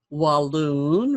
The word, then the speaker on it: Walloon: At age 6, Joseph Billington is apprenticed with John Cooke and wife Hester, the Walloon, rhymes with balloon.